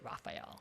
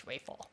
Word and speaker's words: Raphael: said no no no we don't pronounce it Raphael it's Rafel.